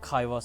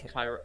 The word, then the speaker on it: Kairos: You know, what if it's Kairos and I've been saying it wrong? It's not Kairos. No, it's Kairos.